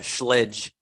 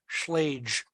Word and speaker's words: Schlage: another locksmith pronounced it schledge I've heard yeah according to Bob Dix it's Schlage because it's German but who knows Walter